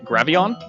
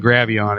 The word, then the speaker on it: Graveon: Twitter first at Graveon.